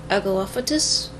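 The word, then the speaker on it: Aglaophotis: don't want to i'll go off for this agolaphatus see that's how it's pronounced red liquid or crystals resembling blood according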